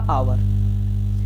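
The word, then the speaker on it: hour: यहाँ लिखा हुआ है अ आवर, जबकि हम इसको पढ़ते हैं आ से स्टार्ट।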